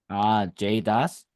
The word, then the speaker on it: JAdES: What's so my ignorance, what's Jade's or JADES or however it's pronounced? JDAS.